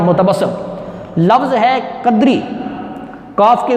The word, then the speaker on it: متبسم: لفظ ہے متبسم۔ متبسم، میم کے اوپر پیش، تے کے اوپر زبر، بے پر بھی زبر، اور سین کے اوپر شد کے اوپر آئے گی زبر، اور میم پر لگے گی جزم، متبسم۔ لفظ ہے قدری۔ کاف